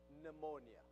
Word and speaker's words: pneumonia: word that gives us pneumonia word all right right we don't pronounce the P obviously in English but so here is